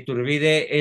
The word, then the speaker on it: Iturbide: tiene No si tienes sí con acento en la i tiene estatuas en México mientras que turbide es ignorado en gran